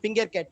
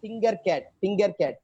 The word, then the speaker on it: Tinkercad: Use Tinkercad. It's not Fingercat. Tinkercad.